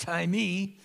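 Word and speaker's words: τιμή: that's translated on her it looks like the word time it has an extra e it's pronounced tie me and this word means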